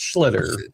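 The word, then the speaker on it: Schlittler: I don't know how to pronounce his name because it sounds like just say Schiller. Schiller. That guy. No, that guy. It's Schlitter.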